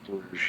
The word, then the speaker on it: Bruges: pronounced in Bruges or is it pronounced in Bruges? in Bruges, yeah. In Bruges, okay.